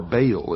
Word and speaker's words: Baal: the ancient worship of Baal our bail is some pronounce it ma was the Sun